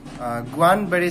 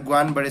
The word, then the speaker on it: Guillain-Barré: So Guillain-Barré syndrome is also pronounced as the Guillain-Barré syndrome. Some doctors pronounce it as Guillain-Barré syndrome, some says it as Guillain-Barré syndrome. So two pronunciation different हुन सक्छ.